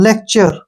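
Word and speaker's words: lecture: तो गलत हो जाएगा तो टी का जो यहां उच्चारण होगा व च के रूप में होगा ठीक है ना किसके रूप में होगा च के रूप में तो लेक्चर क्या बन गया लेक्चर लेक्चर का मतलब जो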